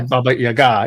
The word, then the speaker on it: Baba Yaga: and then also for some reason I find Bobby Yaga or Baba how you pronounce ITA yeah Baba Yaga yeah that's how you pronounce it as Lost